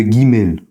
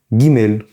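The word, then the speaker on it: גימל: La troisème lettre de l'alphabet s'appelle le guimel. Comme vous l'entendez, guimel se prononce en fait, c'est l'équivalent du G en français, le G. Gimel, on va l'écrire comme ça.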